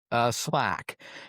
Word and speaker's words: SLAC: It's pronounced SLAC.